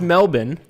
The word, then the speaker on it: Melbourne: ahead here i'm in melbourne australia which is pronounced melbourne i learned when i was there yet melbourne is super cool there were also tons of